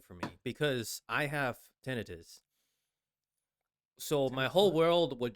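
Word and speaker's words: tinnitus: That's how it's supposed to be pronounced. But a lot of people say tenitis.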